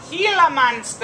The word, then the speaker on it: Gila monster: hard one to pronounce the g says it's completely different the g says want to call in a friend to help a gila monster a gila monster if